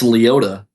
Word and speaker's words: Liotta: Is that not how it's pronounced? That's how you pronounce it? No, it's Liotta.